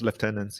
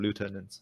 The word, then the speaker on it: lieutenant: First, I think Andrew, I thought you were from Malaysia, so you should use Commonwealth English and pronounce it as lieutenants instead of lieutenants.